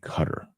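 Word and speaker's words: Qatar: was that big thing is it cutter or guitar and then um seem to remember people saying cutter was how you pronounce it anyway but thanks for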